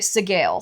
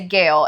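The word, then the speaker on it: Sgaeyl: to do to say Gail and make it a silent s. But if you assume the author is using like Gaelic origin of language, it's sail.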